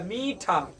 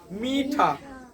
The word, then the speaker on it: मीठा: तो कौन रहेगा भाई हमने बोला मीठा मीठा मीठा पू म और तब इसमें बड़ा हो गया ना तो आज के